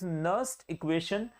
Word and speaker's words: Nernst: तो आप याद रखिएगा देयर इज नो नस्टिंग ऑफ नर और नारी here. The only thing is इट इज नस्ट इक्वेशन। तो यहां पे एन साइलेंट रहता है। नस्ट इक्वेशन आप इसे बोलेंगे।